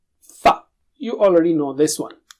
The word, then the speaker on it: فَ: Touch the lower lip to the edge of the upper teeth. Fa.